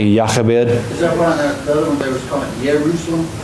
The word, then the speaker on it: Jochebed: like a kind of, we would do like maybe a Y, like a ya, like where in Spanish it's more of an H, like a ha. There's more like a ya, like Yachabed.